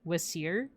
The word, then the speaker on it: Wasir: They actually do have like names that are closer to like the Egyptian pronunciation. So, Osiris would be Wasir, Horus would be Heru.